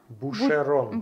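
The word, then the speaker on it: Boucheron: Как читается правильно? Бушерон.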